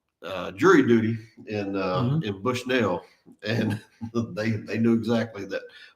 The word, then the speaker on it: Bushnell: It's pronounced Bushnell, not Yeah. Bushnell. No. Bushnell. You are the native, so we'll Yeah.